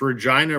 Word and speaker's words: Regina: And just remember, Alex, Regina rhymes with that other word.